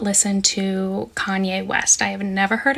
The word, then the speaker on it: Kanye: So I do not listen to Kanye West. I have never heard a Kanye song. I used to pronounce his name Kane because I'm a little dyslexic and that's how I read it.